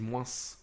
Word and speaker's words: moins: Je lui dis la prochaine fois que tu dis moins, tu prononces pas le S.